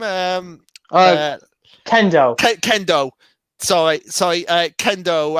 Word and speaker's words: Kendo: war arc i would definitely save yeah now kay go uh is that how you pronounce her name um kendo kendo sorry sorry uh kendo um big fist